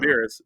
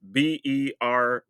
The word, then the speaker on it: Beerus: Beerus, Beerus, like beer us. Just like the Dragon Ball Z character, because that's where the Yeah, meme comes from. but yeah, just awaken Beerus.